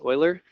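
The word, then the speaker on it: Euler: uh Garrett okay so maybe we've heard of Oiler before it looks like uler but it's pronounced Oiler uh Oiler is um one of the most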